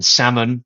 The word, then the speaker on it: salmon: and debt and doubt and the L in salmon. That's another kind of classicizing invention. But the majority of silent letters were once pronounced and now they're not.